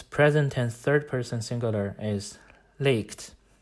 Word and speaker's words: legt: third-person singular is leaked the form seems to reflect our short vowel but it is actually still a long vowel this is an exception and it breaks the rules you can only pronounce it correctly if you recognize how it is derived let's now put the